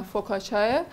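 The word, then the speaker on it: focaccia: آماده آماده کنیم نان فوکاچیا یا نان فوکاچیا که حالا تلفظ ایتالی ش معمولا فوکا چاه یه نون خیلی خوش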